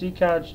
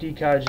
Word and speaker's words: Ekaj: But how mine's pronounced is, it's purely E and then K-A-J as Kaj. Sort of like the Lige, you know, in the name Elijah.